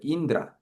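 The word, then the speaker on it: इन्द्र: 이게 N이 있고 d가 있고 이게 그 r 발음이 또 이렇게 합쳐지는 거거든요. 그래서 어떻게 되면이가 있고 NDR이 이렇게 해서 드르 느드르 이게 그다음에 마지막에만 아가 있어서 읽어보죠. 인드라 인드라 인드라 신기하죠?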